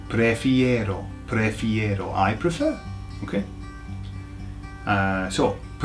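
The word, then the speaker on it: prefiero: Prefero. So, what you have to remember is that it's got an arrow on the end. Okay? for those who know aero chocolate right prefero I prefer okay uh so prefer is to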